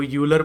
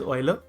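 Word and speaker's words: Euler: तो this person is ऑयलर इसको यूलर पढ़ देते हैं लोग बट इट इज ऑयलर Leonard ऑयलर actually an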